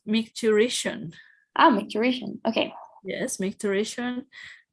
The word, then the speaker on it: micturition: yesterday, I tried and I was like micturitation, and I don't think that sounds right. Yes, micturition.